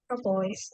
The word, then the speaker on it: metropolis: Metropolis is pronounced. Metropolis, yes.